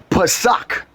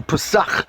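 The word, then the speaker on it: פסח: H6453, Pesach. That's how you would pronounce it in the Hebrew. Pesach.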